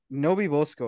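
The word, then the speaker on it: NoBeBoSco: Nobi Bosco, yeah, I'm An guessing if interesting name.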